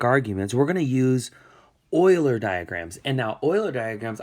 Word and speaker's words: Euler: The way you pronounce this name here is Euler. Euler is one of the most prominent mathematicians ever. And so that's how you say his last name, Euler.